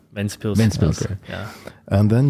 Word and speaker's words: Ventspils: Ventspils, yeah. In Germany, it's Lindau. No, Windau. Windau, yeah, but it's Ventspils.